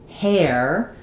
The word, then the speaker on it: hair: All of these are the same just basic sound whereas hair has the sliding air.